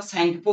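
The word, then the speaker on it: Tsangpo: সাংপো ঠিক আছে ওকে টি টি টি টা সাইলেন্ট রহে তো স্যাংপো কয় যায় হেলা ওকে তবে পরীক্ষারে দেখিও তো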